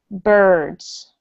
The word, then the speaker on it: birds: This word is pronounced birds. Bird. Yeah, it's not, even though it has an I, just pretend that it's spelled with a U.